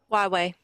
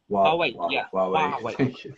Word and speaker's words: Huawei: How do I pronounce the company name? Hawaii. Huawei. Huawei.